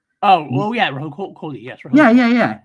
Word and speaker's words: Rahul Kohli: Because like I always thought Rahil. I always get his name wrong. The guy that hangs out with Alana Pierce a lot. Rahul Kohli, I think is his name.